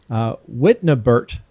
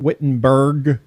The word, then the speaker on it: Wittnebert: Wittnebert is the last name, not Wittenberg or Witten. It's Wittnebert.